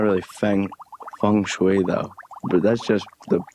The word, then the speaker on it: feng shui: her about it and Laura knew exactly what Feng Shui was hungry Fung Shui I can't believe I'm correcting your pronunciation of this thing I don't even know